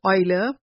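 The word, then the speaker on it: Euler: The symbol was made popular by the Swiss German mathematician Leonard Oiler pronounced Oiler.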